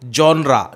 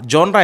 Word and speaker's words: genre: तो ये याद रखिएगा आप, जॉनरा। जॉनरा यानी कि GENRE, जेनर नहीं बोलेंगे, जॉनरा। The correct pronunciation of this word is जॉनरा।